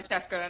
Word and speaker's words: Kyazike: the way that in the book it's like Cheska. Yep. They Cheska. call her Cheska in the audiobook.